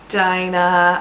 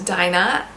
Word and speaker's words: Dinah: The next name that I want to talk to you guys about from Adam Bede is Dinah.